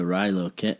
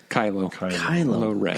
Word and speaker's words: Kylo Ren: And is that part of the storyline that he also left because after Ben turned into Rilo Ken, or do I say it wrong? Rilo? Right? Yeah. Kylo Ren.